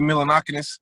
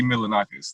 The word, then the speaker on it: Milonakis: that it was dope but it's like andy milanokinis i'm not something my name wrong andy milinakis there you go yeah i remember when andy